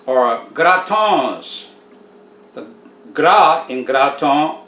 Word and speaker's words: gratons: be young cracklins or gratons the gra in graton rhymes with bra the tongue rhymes with gone the